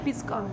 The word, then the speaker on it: pisco: Just 1 spoon of the Peruvian brandy, pisco. Peruvian brandy. And you pronounced it, what is it?